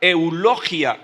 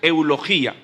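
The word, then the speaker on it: εὐλογία: La palabra griega que se utiliza en el original es la palabra eulogia, o algunos pronuncian eulogía, no importa.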